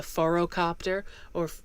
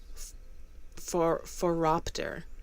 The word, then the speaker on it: phoropter: Yeah, I keep want to pronounce this word as a phorocopter, but it's phoropter.